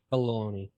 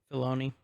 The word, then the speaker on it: Filoni: How do you pronounce his last name? Baloney. Filoni.